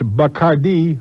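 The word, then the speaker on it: Bacardí: that you can go over to the properly pronounce a buck ID or the bacardi rum distillery oh and you can take it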